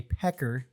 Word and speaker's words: Paik: it's Peck like a pecker not right Peck like a chicken like a chicken my